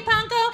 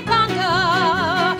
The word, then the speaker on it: Pankow: Rhymes with bronco, simple as can be, see Panko.